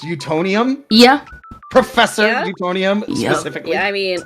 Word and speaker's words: Utonium: I'm gonna assume that is pronounced Utonium. Yeah. Professor Yeah? Utonium, Yep.